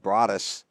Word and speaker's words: Broadus: Leading off, number 23, Broadus, who I called Brodus the whole time I coached him. Freshman year, they said Broadus. I looked at his dad, and I said, Broadus? He goes, yeah, that's how you say it.